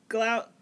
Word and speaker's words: Gloucester: She's a tour guide from Gloucester. There we go. Gloucester. It's spelled like that, yes, Gloucester.